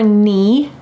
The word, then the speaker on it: knee: Then below your knee, notice that the K is silent.